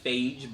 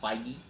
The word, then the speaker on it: Feige: I always struggle with Kevin's last name because it looks like Phage, but apparently it's pronounced Feige.